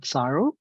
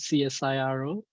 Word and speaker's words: CSIRO: I lead the robotics and autonomous systems group at CSIRO. So for those who are not familiar with the pronunciation of the acronym, that is CSIRO, which is the Commonwealth Scientific and Industrial Research